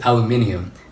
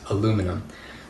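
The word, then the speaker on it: aluminium: words like rubbish and I still pronounce aluminum the right way as aluminum and not aluminum so here he's he's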